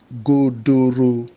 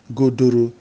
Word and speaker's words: godoro: Another word with the G here is godoro. Godoro. Godoro means, let me first of all spell it. It's Godoro. Godoro. And all the stress marks on the vowels are all rising from left to right.